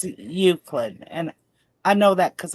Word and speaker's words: Euclid: It's pronounced Euclid, and I know that because I understand the English language.